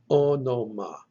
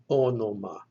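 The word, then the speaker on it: ὄνομα: And it is pronounced onoma, onoma. Notice there are two omicrons in this word. The first letter and the third letter in the word are omicrons. They're both pronounced O, onoma, onoma.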